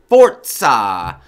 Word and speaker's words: Forza: really really really need everyone to know it's pronounced fort ha fort saw so anyway there you go that's all that's